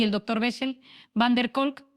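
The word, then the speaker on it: van der Kolk: Gabor Maté y el drctor Vessel, VanercolK, pronunciado Vessel, Vanercolk, vamos a explorar como nuestras propias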